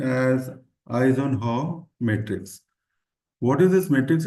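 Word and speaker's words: Eisenhower: one is Ison H Matrix now this is pronounced as Ison Hall Matrix what is this Matrix is all about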